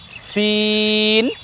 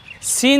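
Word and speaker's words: س: করছি দেখুন আমরা বলছি সিন সিন যখন আমি উচ্চারণ করছি তখন আমার ঠোঁট কিন্তু বাঁকা হচ্ছে না আর এরপরে যখন শিন বলছি সিন বলার সময় কিন্তু ঠোঁট বা মুখ গোল হবে না দেখুন আমরা এভাবে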